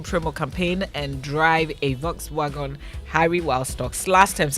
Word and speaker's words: Volkswagen: I'm saying Volkswagen. Okay, so it's true that the W is pronounced as a V, right? But apparently the V is pronounced as an F.